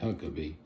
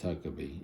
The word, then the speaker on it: Huckeba: don't say huckaba I say huckabe but it's spelled h u c k eba. So to me that's huckabe even though it's looks like huckaba.